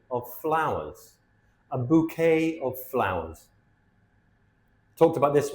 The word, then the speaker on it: bouquet: A bouquet of flowers. Talked about this word before. It comes from the French language. When the word ends e, it's not an e sound. is an a sound.